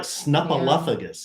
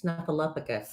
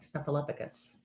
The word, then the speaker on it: Snuffleupagus: we find out parallel it's like Snuffaluffagus it's Snuffaluffagus it's Snuffleupagus Snuffaluffagus no Snuffleupagus anyway another thing to